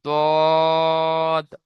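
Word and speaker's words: ض: আচ্ছা, সদের মতো দেখতে আরো একটা অক্ষর দেখেন, এটাকে পড়তে হবে দদ, জদ। এখানেও স্টার চিহ্ন আছে, এই অক্ষরটাকেও উচ্চারণ করার সময় মুখ গোল হয়ে যাবে, যেমন দদ, তিন আলিফ টান হবে, তিন লেখা রয়েছে।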